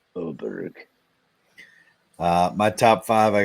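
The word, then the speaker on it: Åberg: love but the but the a with the circle on top is pronounced as an O I believe yeah I got I got him top five for plus 360 all right V oberg uh my top five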